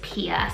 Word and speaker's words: Pia: Okay, so these first 2 names I'm gonna be sharing with you remind me of the name Mia. The first one I have is Pia.